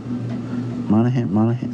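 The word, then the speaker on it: Monaghan: jack nicholson right leto uh even cameron monahan monahan that's how you say his name yeah uh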